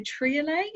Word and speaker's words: triolet: I had my first encounter with a triolet. Am I pronouncing that correctly? Oh, triolet, I love them, yes.